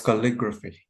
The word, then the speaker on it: calligraphy: Calligraphy or calligraphy? Yeah, it was calligraphy. Yeah. It's like photography, right? Yeah, it's like Discography, yeah, discography, photography. geography.